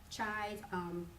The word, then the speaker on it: Chai: So in my case, Chai, it's just how you pronounce the word in Cantonese.